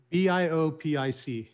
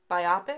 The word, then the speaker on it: biopic: p-i biopic it's um i always pronounce it a biopic like biography and but i've seen i've heard people call it a biopic like like if uh like you just said like if somebody's nearsighted oh wow there's like all